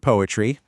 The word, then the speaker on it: PoAItry: So here at PoAItry, and yep, we pronounce that poetry, we do things a little differently.